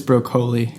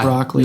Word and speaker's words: Broccoli: It's broccoli is how you pronounce that. Not broccoli. Not broccoli.